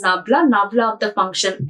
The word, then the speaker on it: nabla: The navla of f this symbol we used to pronounce as nabla navla of the function f that gives the magnitude and direction of the steepest slope.